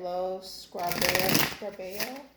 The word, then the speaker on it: Lo Scarabeo: That is by, I always pronounce it right, Lo Scarabeo.